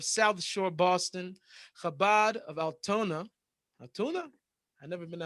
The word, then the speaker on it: Altoona: George, Utah, Chabad of South Shore, Boston, Chabad of Altoona. Altoona? I've never been to Altoona neither. But tuna rhymes with the Muna.